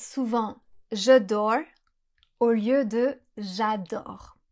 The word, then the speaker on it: J'adore: L'exemple que je donne souvent, c'est celui des anglophones qui disent souvent "J'adore" au lieu de "J'adore." Si vous prononcez mal le a dans adore, on comprend je dors.